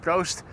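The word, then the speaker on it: proost: Prost. Prost means cheers. P R O O S T.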